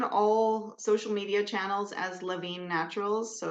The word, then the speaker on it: LaVigne: we're we're on all social media channels as LaVine Naturals so it's spelled the French Canadian way l a v